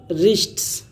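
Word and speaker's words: wrist: हाथों को धोएं अब टू द रिस्ट W silent रहेगा इसमें अब टूरिस्ट कलाइयों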